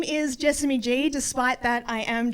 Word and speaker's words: Jessamy: his mom, and he goes, "Mom, this is Jessamy." She goes, "Jasmine?"